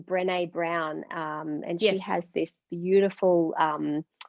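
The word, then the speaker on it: Brené Brown: supported and loved i think i think it's pronounced brene brown and she has this beautiful video on youtube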